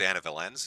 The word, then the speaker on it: Anna Valens: It was Anna Valens.